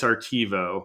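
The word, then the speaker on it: ARTEVO: um specifically specifically for implementing the the Zeiss artivo microscope did I get that right in terms of pronunciation correct awesome can you tell our listeners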